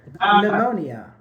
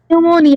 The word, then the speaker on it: pneumonia: I think it's called pneumonia I think pneumonia pneumonia yeah the P silent like in Psychology say pychology m many people make fun